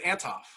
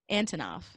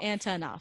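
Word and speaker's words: Antonoff: And I said it wrong, didn't I? Yeah. I was going to say, Antonov, did you say? No, I said Antov. Antonov. Okay. It's like Jack three syllables. Antonov.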